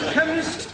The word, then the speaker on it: chemist: Chemist does not begin with a K. It sounds like it begins with K. C-H. But that is making it chemist. No, the C-H is pronounced K.